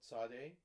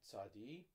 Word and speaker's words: Tsade: about a Hebrew letter called Saudi or Saudi there's different pronunciations today and I hope